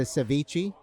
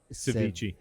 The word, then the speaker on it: ceviche: My favorite here is the ceviche. They make it so good. What is it? Ceviche.